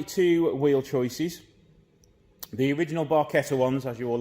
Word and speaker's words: Barchetta: Welcome back to another episode with the Barchetta.